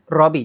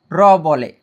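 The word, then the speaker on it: ロビー: জাপানিসে ল, ল শব্দটি কিন্তু জাপানিসে নেই, এই লটাকে জাপানিসে র বলে, ঠিক আছে। ওরা ল প্রোনাউন্সিয়েশনটা করতে পারে না, সো মাথা রাখবেন এটা ইংলিশে লবি, তো জাপানিসে হবে রবি।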